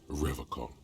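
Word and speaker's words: Revachol: rev a call also he's pronouncing reversal differently than everyone else he pronounces rivercon yeah okay unlike other people uh is this your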